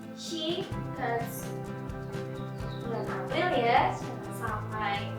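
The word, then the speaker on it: 四月: Untuk bulan April dibacanya bukan Yongatsu tapi Shigatsu.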